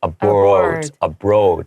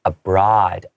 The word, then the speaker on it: abroad: So abroad, a lot of my students might say abroad, because they see that O. It's actually pronounced abroad with an sound.